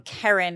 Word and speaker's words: Kerryn: me out on Instagram sorry excuse me um Karen it's k-e-r-r-y-n-fian f as in Frank e e